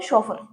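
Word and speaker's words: chauffeur: शॉफर। ठीक है? सी एच ए U double F ई यू are. Spelling पे ध्यान रखना है। प्रोनंसिएशन भी इसकी शोफर है।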